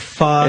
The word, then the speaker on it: pho: Yeah, it's like pho. It that's really like their is. Signature dish, like a noodle soup. It's like pho.